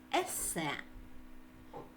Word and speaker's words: есе: основна будова тексту ессе слово ессе прийшло до нас із французької мови тому наголос ми ставимо на останньому складі есе наступна вправа прочитай те